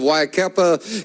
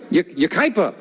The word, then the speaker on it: Yucaipa: And the opening poem sent in by Ann Young of Waikapa, California, watching us on, am I pronouncing that right? Yucaipa. Pardon me, Yucaipa.